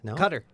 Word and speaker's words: Qatar: Cutter. It's pronounced Cutter.